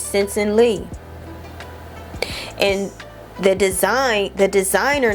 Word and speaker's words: Sensen Lee: It's Sensen Lee.